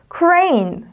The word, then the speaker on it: crane: crane, crane. 자, 공사장에서 이렇게 중장비들 중에 이렇게 크레인 있잖아요. 그걸 크레인 아니고 crane이라고 발음해요.